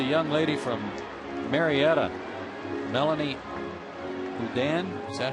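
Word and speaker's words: Oudin: Hey, congratulations to the young lady from Marietta, Melanie Udan. Is that how you say her name? Udan, yeah.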